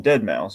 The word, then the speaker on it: deadmau5: Dead Mouse. Literally Dead Mouse, because the X's in the eyes. That's literally. All right. Well, point me in Dead Mouse.